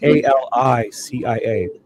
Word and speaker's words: Alicia: And her name is spelled A L I C I A. It's a little bit different, but they say Alicia. Alicia. Instead of the e, instead of the e,